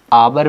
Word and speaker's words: hour: और एच का जो प्रोनाउंसिएशन आ रहा है वो किस में आ रहा, एच को यहाँ पे हा ना पढ़ के आ पढ़ा जा रहा, आवर पढ़ते हैं ना, तो आ क्या